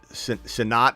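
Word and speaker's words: Sinnott: we can get caught up um Ben uh sinat is that how you say his name yep so Ben sonat Ben sonat just got taken by the uh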